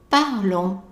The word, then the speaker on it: parlons: Nous parlons. Nous parlons. And again, notice where I put the stress, it's not on the on. Don't say parlons, parlons.